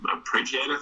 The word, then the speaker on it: arpeggiator: Did some arpeggiator thing. I don't know how to pronounce that.